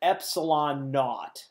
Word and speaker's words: epsilon nought: right here epsilon nought you pronounce that epsilon nought it is an epsilon of side of the e it's an epsilon and that Sub Zero you just say epsilon naught that is equal to